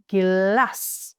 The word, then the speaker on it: glass: We have this one, we have 2 S's, glass is how we would pronounce this. Since we have 2 consonants, the vowel A will be short.